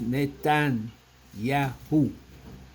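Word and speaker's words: Netanyahu: And I'm not pronouncing the the word the name. uh incorrectly. It is Nathan Yahoo.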